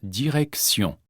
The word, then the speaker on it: direction: Le T de direction se prononce S. La direction, la station.